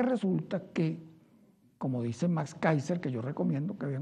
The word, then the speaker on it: Kaiser: lo busca por youtube se llama keyser con k y ese ere que káiser se pronuncia kaiser report que viene interesante